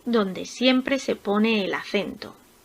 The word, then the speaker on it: acento: Por ejemplo, acento, acento. La sílaba tónica está en la segunda sílaba empezando por el final. Cen.